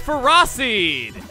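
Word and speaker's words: Ferroseed: Next up is Ferrosseed. That's how it's pronounced.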